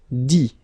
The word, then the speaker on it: dit: Dire, I-R-E, will become I-T, dit. Okay, phonetically, same thing here, you don't pronounce the final T.